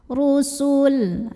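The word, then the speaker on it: رُسُل: Min qablihi ru, ra-nya dibunyikan secara tafkhim karena ra-nya berbaris dhammah. Cara bacanya adalah ditebalkan, pangkal lidah diangkat. Ru, rusul. Sinnya kecil, jangan sampai dipanjangin ya. Sinnya pendek maksudnya ya, jangan sampai dipanjangin dulu.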